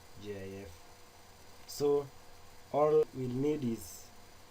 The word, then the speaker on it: GIF: Some may pronounce it as GIF, but it's supposed to be GIF.